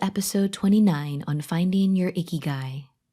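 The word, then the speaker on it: ikigai: 29 on finding your icky guy this is a japanese word that is spelled i-k-i-g-a-i not i-c-k-y-g-u-y if you have a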